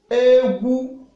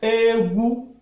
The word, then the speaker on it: egwu: If you say Egu, if you pronounce it like Egu, high tone, you are talking about dancing or dance.